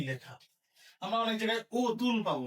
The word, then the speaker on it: অতুল: এটার উচ্চারণ হবে অতুল। তার মানে কেন? তুল মানে তুলনা। অতুল মানে যার তুলনা নেই। তার মানে কি? তুল যে অর্থ দেয় অ যুক্ত হওয়ার কারণে ওই অর্থটা বিপরীত হয়েছে। অযুক্ত হয়ে তার বিপরীত অর্থ দিলে অ এর উচ্চারণটা ও কি হবে না। অর উচ্চারণ অই থাকবে। তার মানে এখানে উচ্চারণ কি লিখতে হবে?